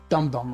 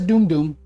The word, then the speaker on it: Doom Doom: Probably pronounced Dum Dum rounds. No, it says Doom Doom. It says Doom. D-O-O-M, D-O-O-M.